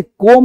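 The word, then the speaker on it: come: इसलिए इसे कॉम नहीं पढ़ते। कम पढ़ते हैं।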